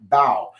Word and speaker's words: Bao: Then Marcus Bao, uh, MB O, but it's pronounced Bao for those of you